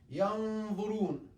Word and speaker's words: ينظرون: The sound ينظرون, أفلا ينظرون, ينظرون, not ينظرون, ينظرون. It's heavy because it's followed by a heavy letter.